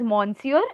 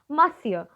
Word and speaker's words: Monsieur: means basically miss Cho this is a you know French word and so it is pronounced differently do not pronounce it as Monsur it is not Mon sir my dear students its Monsieur which means mister okay